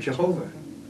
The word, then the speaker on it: Jehovah: church would have latin latin does not have a y it had a j so they substituted a j for the y and they thought that that was the pronunciation and they came up with the word jehovah all right that sounds